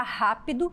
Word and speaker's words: rápido: Então aqui eu tenho a palavra lâmpada, a palavra rápido, a palavra pólvora. Já está sinalizado em vermelho a sílaba tônica. Lã de lâmpada, rá de rápido, pol de pólvora.